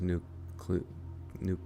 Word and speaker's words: nuclear: President Bush says nuclear, and Chief of Control to loudly corrected him. Oh, geez. I guess I'm president all of a sudden. Maybe that's where I heard it. Google says it's 3 syllables.